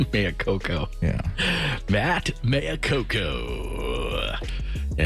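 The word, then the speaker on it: Maiocco: you say that Maya coko is the correct pronunciation of Matt's last name Maya Coco yeah Matt Maya Coco yeah he's going to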